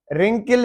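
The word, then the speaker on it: wrinkle: रिंकल है ये जो झुर्रियां वगैरह होती हैं जो चेहरे पे पड़ जाती हैं या किसी चीज पे, रिंकल, तो डब्ल्यू साइलेंट है।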